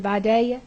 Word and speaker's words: Vidalia: have now, because of, is it Vidalia? Yes, ma'am. And that's how I pronounce it too. Representative Reinders? You actually pronounced it correct.